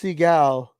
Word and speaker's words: Seagal: It's pronounced Seagal.